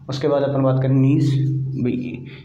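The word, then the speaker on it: gneiss: उसके बाद अपन बात करें नीस, ये भी किससे बना हुआ है, ग्रेनाइट से तो बना था, मेटामॉर्फिक ग्रुप ही तो है इसका। नीस के मतलब जी साइलेंट होता है इसमें, ठीक है।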